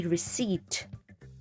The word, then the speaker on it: receipt: P is silent. P is not going to say anything. So it's going to be receipt.